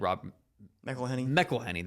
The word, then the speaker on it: McElhenney: Okay, so back in 21-22, the season that Ryan Reynolds and Rob McElhenney, that's the way to pronounce it, when they bought the team, they were in the English National League, which was the 5th tier.